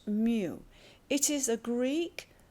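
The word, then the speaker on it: μ: It is mu pronounced mu.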